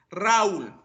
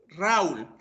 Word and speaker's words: Raúl: Entonces, eso quiere decir que Raúl necesita un acento en donde, en la U, y tengo que romper el diptongo al colocarle un acento en la vocal débil.